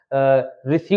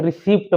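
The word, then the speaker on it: receipt: खाली यहां पर हम रिसी रिट बहुत से लोग पढ़ते हैं रिसीप्ट पढ़ते हैं लेकिन इसका मतलब होता है रसीद रिसीप्ट का मतलब होता है रसीद यहां पर क्या होगा पी साइलेंट है तो क्या पढ़ेंगे रिसीव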